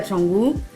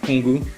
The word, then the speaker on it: Canggu: Et d'ailleurs on dit Canggu, on ne dit pas Kongu. Le C ici ça se prononce ch.